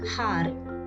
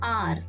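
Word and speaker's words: hour: We have to consider O, because H is silent here. So an R. It's not har, it's R.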